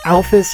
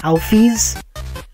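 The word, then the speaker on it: Alphys: the great doctor office I've heard her name pronounced both alphas and Alfie's I'm going to go with outfits because I prefer it you see these styles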